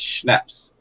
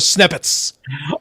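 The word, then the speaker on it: Snepsts: It's Schnaps. Whatever. Sorry, just correcting that. No, I'm happy with the correction. My point is, whatever. Even knowing the proper pronunciation, I would still call it Snippets.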